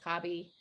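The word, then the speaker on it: Khaby: how to say it it's k-h-a-b-y so kb cobby he's italian um and you know how they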